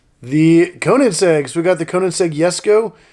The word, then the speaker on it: Koenigsegg: Koenigseggs we got the Conan seg yes go it's actually spelled with a J but in Sweden it's actually a y sound actually in a lot of countries is like that but it's finished in